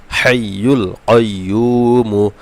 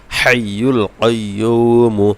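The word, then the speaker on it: الحي القيوم: যেন এই হা এবং ভালোভাবে মুখস্ত হয় ভালোভাবে উচ্চারণ হয় আস্তাগফিরুল্লাহি লা ইলাহা ইল্লাহ হুয়াল হাইয়ুল কাইয়ুমু হাইয়ুল কাইয়ুমু এখান থেকে এতটুকু জন্ম মুখস্ত হয়ে যাবে এবার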